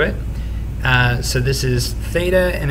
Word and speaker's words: theta: uh so this is theta and it's spelled t h e t a and it's essentially a greek letter for us kind of sound like a th almost but this is the symbol